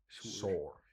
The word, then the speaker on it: saor: And then we could also add Sur, which is like it's just means freed. But I figured that would be too many words. But it's spelled SAOR for Sore.